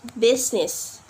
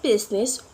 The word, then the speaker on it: business: accept in the word business in the work business would not pronounce the letter i okay let's move to